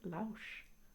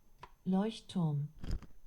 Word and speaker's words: Leuchtturm: done any German exams, I just don't think it's Lausch. Lauch. Alexa, how do you say lighthouse in German? Lighthouse in German is Leuchtturm. Leuchtturm. Leuchtturm.